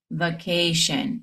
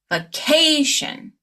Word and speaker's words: vacation: So, it's not going to be vacation. It's vacation. Vacation. You'll stress the syllable right before Practice with me.